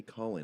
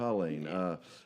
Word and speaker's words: Culeen: I always say Colleen. I'm just saying it wrong, aren't Culeen. I? Culeen.